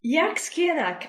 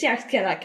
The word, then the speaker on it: Dearc Sgiathanach: it's very, very new, which is pronounced as Dearc Sgiathanach, and I might be saying it incorrectly as well, because it's in Scottish Gaelic, which is not my native language, and it's not a